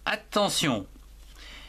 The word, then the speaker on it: attention: Attention. Ici, il y a une syllabe, A-T, at, T-E-N, temps, T-I-O-N, sion. Attention, ici, T-I-O-N se prononce sion.